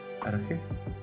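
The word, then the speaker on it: arché: Bueno, se escribe arche, pero se pronuncia arg.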